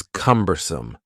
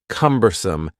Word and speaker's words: cumbersome: The next word is cumbersome. The word cumbersome has three syllables and the stress is on the first syllable.